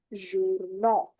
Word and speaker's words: journaux: It will become les journaux because aux is the pronunciation for o.